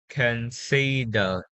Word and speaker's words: considered: It should be considered. apple is considered. The ending sound will be pronounced d.